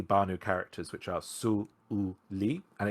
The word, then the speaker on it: Suli: Banu characters, which are Su-U-Li, and it is actually pronounced Su-Uli, with a break between the U and the U.